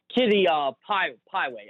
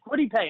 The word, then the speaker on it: Kwity Paye: I can never pronounce the guy's name. Kitty Pieway, the defensive end from Michigan. Maybe, Kwity Paye. That's it, Kwity Paye.